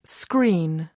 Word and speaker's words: screen: Remove the S from screen. Screen. And the remainder is green.